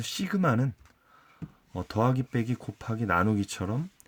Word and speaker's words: 시그마: 자 우리가 이번 시간에 새로운 기울 배우는데 시그마 라고 읽습니다 시그마 시그마 한데 어 이것은 그리스 문자로 서 영어에 s 에 해당이 됩니다 그래서 얘는 더하는 더